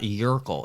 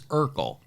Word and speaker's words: Urkel: purple jerkle not you it's not yurkle it's urkel what did i say